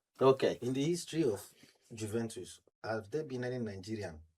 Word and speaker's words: Juventus: The J don't It's soft. in Italian language because I only pronounce it in the original way. But if Nigerians are pronouncing it, you have to, or Africa, we have to pronounce the J.